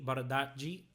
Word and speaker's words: Bardghji: onwards to saying that Rooney Bardghji, that's, I think, apparently how his name is pronounced.